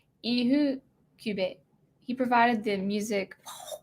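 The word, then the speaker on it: Ifukube: I think, the main Japanese composer I know is Akira Ihukube. I remember the F is pronounced H in Japanese. Ihukube.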